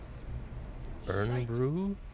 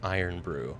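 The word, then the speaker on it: Irn-Bru: Earn Brew. Yes, Furious was saying earlier. Furious was was recommending it. Uh, it's pronounced Iron Brew.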